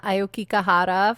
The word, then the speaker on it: Aokigahara: I hope you guys are enjoying the Aokigahara forest.